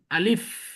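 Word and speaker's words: ألف: তাহলে এটা মনে রাখবেন কিন্তু, তাড়াতাড়ি পড়তে হবে এবং শেষে এফ উচ্চারণ হবে।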